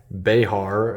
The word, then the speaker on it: Behar: I'm not gonna put tactile knives on the spot here, but I got this brand new tactile Behar, is what I've learned it to be pronounced, Bear or Behar, over the weekend, and it came super dull from the factory.